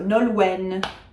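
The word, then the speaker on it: Nolwenn: This is not a nasal. It's it's not following uh French language rules because it is not French language. It is a Celtic language. Breton Britton. So Nolwen uh we do pronounce that final C.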